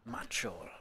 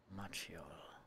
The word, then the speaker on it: Macioł: To be honest, the right pronunciation is Macioł. Macioł, okay. With W at the end. Macioł. Yeah, we have such a tricky letter in Polish.